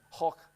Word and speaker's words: Koch: is still the same uh diagnostic tool that Koch How do you say it right in German? Koch.